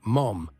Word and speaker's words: Mom: Bowsh's nickname, Mom, pronounced mom in French, came not from any maternal qualities, but was supposedly a shortened version of mommy.